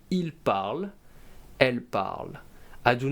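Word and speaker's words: ils parlent: It ends with the ent, and I do not pronounce the nt, they are actually silent. So we say il parle, elle parle.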